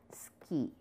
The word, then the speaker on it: 好き: Now, you can also use it with suki, which is like, and the pronunciation is ski.